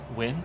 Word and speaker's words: Nguyen: And I think it's pronounced Win? yeah. Fat Win? Nguyen? Win? Win.